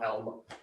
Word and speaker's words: Alma: Alma, yeah, like Al and Ma, Alma.